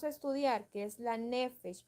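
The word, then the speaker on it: נפש: Y nefesh, se los voy a, así como se oye, se escribe.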